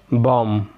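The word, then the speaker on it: bomb: حرف البي بيكون سايلنت لو قبل منه جه حرف الام، زي كلايم بوم كرامس فتات لمس الاطراف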